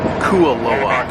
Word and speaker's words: Kualoa: This is pronounced Kualoa.